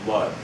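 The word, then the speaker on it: Łódź: large city in poland called lodge and that's spelled l-o-d-z it sounded different than the way it spelled and that's where they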